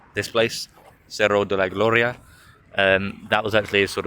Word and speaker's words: Cerro de la Gloria: Cerro de la Gloria.